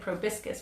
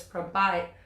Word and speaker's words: proboscis: especially teaching about butterflies, I've always said proboscis, which is the long tongue, but that's not how you say it. So it's proboscis.